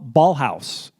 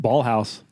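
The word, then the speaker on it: Ballhaus: was so well composed sh by Michael Ball ballhouse who is one of scorsese's most frequent collaborators I'm sorry ballhouse you're saying that weird you must be saying that weird ball housee spell it yeah b a l l h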